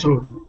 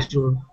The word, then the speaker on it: asur: So in that case, if you did it, then you did something that is how do you say it? Asur. Right. Asur. You did something that's asur.